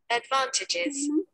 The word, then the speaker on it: advantages: did you hear that advantages of advantages how is that what yes advantages advantages exactly disadvantages so disadvantaged advantages okay so there like the second syllable is being stressed okay man disadvantages so